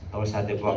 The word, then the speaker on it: torsades de pointes: Torsa de pois kasi yung ginagamit na pronunciation yan.